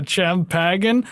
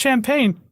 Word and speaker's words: champagne: It's like, do you still want some of the Champagan? I believe it's pronounced champagne.